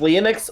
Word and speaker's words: Leonx: Is it pronounced Lennox or Lennox?